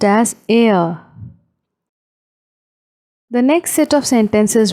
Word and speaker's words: er: He is called er in German, pronounced as er.